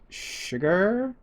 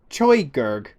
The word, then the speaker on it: Chigurh: from pronouncing that right sugar sugar it's spelt like choy Gege but it's not that once again not being